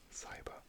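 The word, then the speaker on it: SYBR: You spell it like this, S-Y-B-R, cyber, and it's basically a dye which binds to double-stranded DNA.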